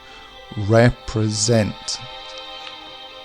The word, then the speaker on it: represent: not embrace and finally represent as two areas of stress at the beginning and the end of the word represent so the middle is unstressed and when we're talking